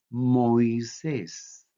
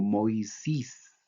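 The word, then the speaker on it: Μωϋσῆς: Otros ejemplos, el nombre de Moisés en griego. Se pronuncia Moisés. Algunos lo pronuncian como Moisís.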